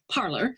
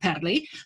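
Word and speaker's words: Parler: i assume they pronounce they mispronounce parlor although it should actually be padley but nevertheless we'll call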